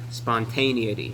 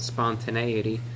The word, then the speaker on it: spontaneity: And what I function best off of, I always used to mispronounce it. I would call it spontaneity. It's actually called spontaneity.